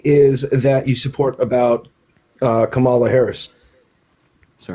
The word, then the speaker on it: Kamala Harris: Okay, now let me ask you what it is that you support about Kamala Harris. So her name is pronounced Kamala.